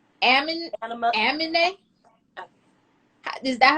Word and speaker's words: Amine: Amine? Is that how you pronounce it? Amine? I never knew how to Anime. say his name. Anime. Like Is the it? It's a A-M. A.M. Mm-hmm. Oh, M. A-M-I-N-E with a Oh, Amine, Sir, and there was